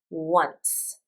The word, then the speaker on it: once: This is an interesting pronunciation because I pronounce a W, "wuh", but you don't see it here. So, this is one of those words that you just have to memorize how it sounds.